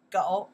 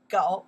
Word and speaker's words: 狗: This one pronounced what? 狗 you're right. 狗 one more time.